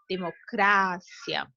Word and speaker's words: democracia: Democracia, democrácia. Então, em muitos casos, a sílaba tônica em espanhol é anterior com relação à da língua portuguesa, tá?